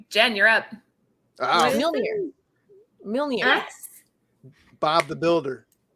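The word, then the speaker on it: Mjölnir: Oh, Mjolnir. Mjolnir. Yes. Bob the Builder. Mjolnir. I think Finally, it's she pronounced got Majoliner.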